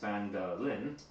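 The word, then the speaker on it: Phandalin: Times were good, and the nearby human town of Phandelver, pronounced Phandelin, prospered as well.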